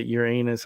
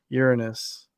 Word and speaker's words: Uranus: uh your anus but I don't say your anus I say Uranus because that's the right pronunciation of the planet yeah so um but